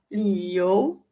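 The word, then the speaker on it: 六: Yang pertama ada liu. Liu. Di sini li dibacanya bukan lu ya, tapi li. Li cara bacanya adalah bibir kita seperti u, tapi yang keluar adalah huruf i.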